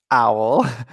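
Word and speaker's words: uil: And the other one is owl, which is pronounced owl, but it's spelled A-U-L. No, it's U-I-L. Ah, cool. But it's pronounced owl.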